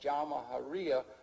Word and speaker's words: Jamahiriya: You'll hear Colonel Gaddafi talk about the Jamahiriya, pronounced Jamahiriya, which roughly translates, in an Arabic term, which roughly translates out the state of the masses.